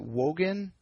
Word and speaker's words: Wogan: And am I pronouncing this right? Is it Wogan? Yeah, Wogan.